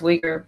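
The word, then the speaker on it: Uyghur: it the you're muslims where they're pronounced weaker but yeah the that's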